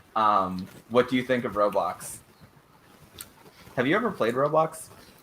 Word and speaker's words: Roblox: of grow boxes bro what is the road blocks it's roblox my pronunciations just bad